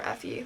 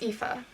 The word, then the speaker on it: Aoife: was reading the book, I just called her Effie, like Hunger Games. Okay. Aoife. It's Aoife. Aoife. Okay, that's how you say it.